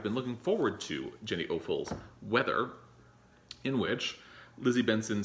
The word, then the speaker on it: Offill: I always pronounce it awful, but it's Offill.